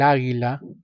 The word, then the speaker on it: águila: El águila. Águila, profesor, es sustantivo femenino. Sí, pero la sílaba tónica se concentra en la A. Es más, lleva tilde.